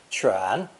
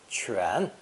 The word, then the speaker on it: 犬: This character is pronounced third tone, 犬, 犬, and is a radical that will enter into many future characters.